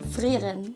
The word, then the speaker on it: Frieren: Frieren. Frieren. Frieren. Not bad, Good R pronunciation. Gotta throw a little phlegm in there.